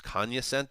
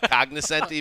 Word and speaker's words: cognoscenti: told me that you if the g is silent it's kanya sente i don't care i like cognoscenti better well what yeah it's